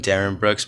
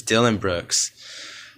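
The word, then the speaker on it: Dillon Brooks: I was calling him Darren Brooks, but it's Dylan Brooks.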